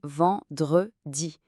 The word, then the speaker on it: vendredi: Pour la prononciation, c'est vendredi. Attention encore au son nasal en au tout début.